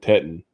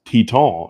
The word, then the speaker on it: Teton: Park is named wrong it's not Grand Teton oh the reason why it is t-e-t it's tea tall it's because the mountains